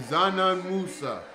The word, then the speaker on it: Dzanan Musa: That's how you say his name, Dzanan Musa.